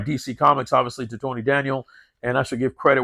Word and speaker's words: Daniel: by none other than Tony Danielle uh if I pronounce that Spanish name correctly yeah it's Tony Daniel look at that look